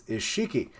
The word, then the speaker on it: Isshiki: Oh, I had his name wrong all along. It's Isshiki.